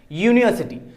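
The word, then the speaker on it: university: मतलब क्या हो रहा है, यूनिवर्सिटी मतलब YEW, यूनिवर्सिटी YEW। मतलब हम उसका जब भी प्रोनाउंसिएशन, हम उसको जब प्रोनाउंस कर रहे हैं तब क्या आ रहा है, तो Y, कौन सा कंसोनेंट का साउंड आ रहा है, Y का आ रहा है, यूनिवर्सिटी, यू, राइट ना,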